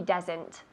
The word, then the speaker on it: doesn't: No, he doesn't, decimos. No, he doesn't. Con la T. No, he doesn't.